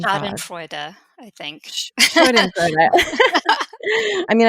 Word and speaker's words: Schadenfreude: Schadenfreude. Schadenfreude, I think.